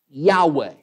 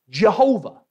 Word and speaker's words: Yahweh: God, at least the best way that we know to pronounce that, Yahweh. Or maybe you might be familiar with kind of the anglicized version of that name. We see it a lot in many of our hymns, Jehovah. And that is a name